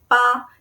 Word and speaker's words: 吧: When part of a compound word, like in 酒吧, it regains its original first tone, ba, because it's no longer a soft grammatical particle, but a full syllable with real meaning. Examples: 好吧, okay or alright then. So its pronunciation is ba.